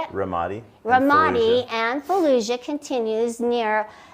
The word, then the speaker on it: Ramadi: Ramadi.